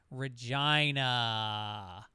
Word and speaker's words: Regina: Also, Regina is pronounced exactly as your inner 12-year-old child hopes it would be pronounced Regina.